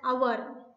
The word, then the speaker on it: hour: For example, H-O-U-R is pronounced as our or R. Okay, the H in H-O-U-R is silent.